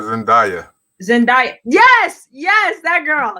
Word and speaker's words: Zendaya: say it zendaya i guess two people said zendaya zendaya yes yes that girl yes yes you